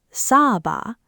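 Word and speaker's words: サーバー: Long English vowels come back as one long dash, the chol-ompu. Server is saba. User is yuza.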